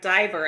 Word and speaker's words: diver: consonant divide before the consonant and I have diver I have an open syllable long vowel diver so there's one debunk